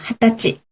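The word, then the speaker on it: 二十歳: 何歳 그쵸, 난사이 또는 20살 발음 특이하니까 한번 기억해 두죠. 20 歳 그죠, 핫다치 되고요.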